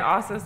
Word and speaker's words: Assos: brand also so first of all it is pronounced office right it is we say authors like awesome so people can remember also Slyke